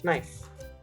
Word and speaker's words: knife: uh starting with k if you have an n following it you don't pronounce the k all right this is a simple rule to remember uh i've got another two examples so if you look at knife it's not a knife it's nice because there's a k followed by n at the beginning of the word so you just simply say knife knit no as simple as that